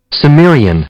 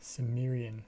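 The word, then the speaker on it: Cimmerian: Maybe Samrian. Samrian. It is an S. Samrian.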